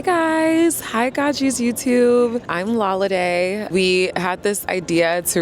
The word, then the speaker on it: Lolade: And my Instagram is spelled LOLVDE. Like the V is an A for Lolade.